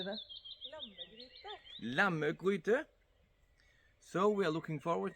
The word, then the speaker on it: Lammegryde: Lammegryde.